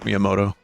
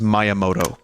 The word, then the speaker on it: Miyamoto: look a little like Miyamoto I used to say his name is Maya Moto because I would read